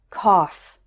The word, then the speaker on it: cough: words enough tough rough there's one word where it's pronounced off and that is the word cough and finally it's pronounced